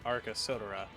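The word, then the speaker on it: Arcasodara: And Grahatia pronounces it Arca Sodora.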